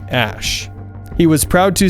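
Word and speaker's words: Æ: He said on the Joe Rogan Experience podcast that X is said like the letter and is said like Ash.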